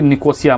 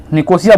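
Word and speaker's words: Nicosia: क्या है लिफ कोशिया ठीक है जिसको कि निकोसिया मतलब कुछ इस सेंस मतलब कि नाम है अलग-अलग तरीके से उसको नाम प्रोनाउंस किया जाता है ठीक है वो क्या है साइप्रस ठीक है निकोसिया बोलिए आप क्या है निकोसिया ठीक है तो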